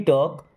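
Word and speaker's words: talk: मुझे सोचने दो okay let मी टॉक L silent let मी टॉक मुझे बात करने दो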